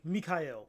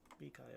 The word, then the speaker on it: Mikhail: Usually, not all the time, but like my name in club settings is annoying to say over and over again. Like Mikhail. That's Mikhail. Yeah, three syllables, bro. That's a lot to say.